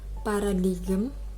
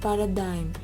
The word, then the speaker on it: paradigm: This is not pronounced as paradigm, but actually the pronunciation is paradigm.